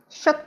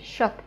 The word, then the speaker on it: счёт: Can you see these two letters? С and ч. С and ч. С and ч are always pronounced as sh, sh. We never say sh. We say shot, shot, sh sound.